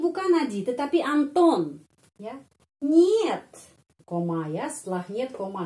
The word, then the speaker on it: нет: Tidak, itu нет, нет. Kata нет, kalau kita no, ya, no, it is not a palace. No, atau нет. Pengucapannya seperti dalam kata monyet, ya.